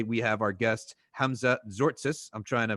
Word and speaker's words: Tzortzis: have our guest hamza zortsis i'm trying to pronounce it properly uh but people usually say sortsis but it's zortsis for everyone who knows greek but this episode is